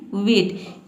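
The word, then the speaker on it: weight: है वजन इसमें देखिए इसको हम पढ़ते हैं वेट इसमें जो जी एच लेटर जो होता है वह साइलेंट होता है ठीक है आई जी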